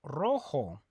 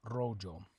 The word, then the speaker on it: rojo: red in Spanish good remember that the J makes an H sound and the Z makes a s sound a soul not as Azul a rojo okay how do you